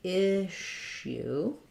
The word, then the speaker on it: issue: the word issue um so this has first syllable stress the double s in this word says the sh sound the sh sound so we see issue um issue so there's